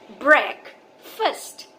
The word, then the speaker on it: breakfast: ब्रेक, ब्रेक हो जाता है ब्रेक एंड फास्ट हो जाता है फास्ट. Okay, so द correct pronunciation of this word is breakfast.